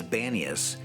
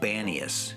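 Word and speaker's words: Banias: where pan was worshiped however the arabic language has a hard time pronouncing the p sound and they called it banius and it's stuck to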